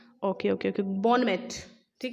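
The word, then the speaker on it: bon mot: Okay okay okay, बॉनमेट, ठीक है, बॉनमोट, बॉनमोट, बॉनमोट कहा जाता है कमेंट को।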